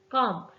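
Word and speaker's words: comb: हैं देन हमारे पास वर्ड है कॉम काम में बी साइलेंट होता है नेक्स्ट वर्ड है रंग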